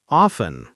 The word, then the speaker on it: often: Note that the letter T is silent. Off, in. Often.